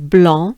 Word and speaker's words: blanc: specifically white wines because blon means white blon and yes the french rule right there don't pay attention to its spelling because you do not want to pronounce the c and yes there is